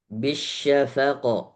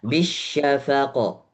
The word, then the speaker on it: بالشفق: فلا أقسم بالشفق Bisyafaqo. Jadi jangan ada space terlalu lama. Tadi space-nya bisyafaqo. Enggak. Bisyafaqo. Langsung.